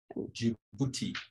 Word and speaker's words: Djibouti: Djibouti.